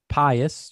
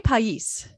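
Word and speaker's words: País: that they mentioned yep so pious you say pious i say pais pais pais say it correctly i think i say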